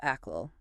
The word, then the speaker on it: Achgill: All right, welcome back to the deep dive. You've handed us well quite a fascinating stack of material today. Yeah, it's all focused on one specific candidate, Bob Ael, running for Brian Texas City Council.